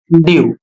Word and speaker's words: dew: यहाँ पर नियम है, यदि ई के आगे W दे रखा हो, कह रहे कि यदि ई शब्द के आगे W आता है तो EW का उच्चारण यू हो जाएगा, यानी ई के बाद